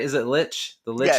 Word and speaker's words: Lich: Oh yeah, Keys just asked, the name of the book is The Lich. Am I saying it right? Is it Lich?